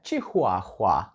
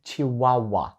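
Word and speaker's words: Chihuahua: і його ми вимовимо не чихуахуа так якби подумали так як ми її вимовляємо його в українській мові тому що це порода собаки чихуахуа ні в англійській воно звучить як чи вау вау так ніби букви H Там просто не існує так ніби це вау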